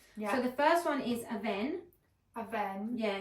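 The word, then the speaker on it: Avène: So it's spelled A V E N E. A lot of people call it Aini but it's it's French. I feel like I have said Aini. It's French darling.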